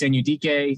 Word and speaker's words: Anudike: I believe it is Felix Anudike-Uzomah. Is Uzomah, okay. I believe that's how his parents pronounce his name. He started the season going by just Felix Anudike.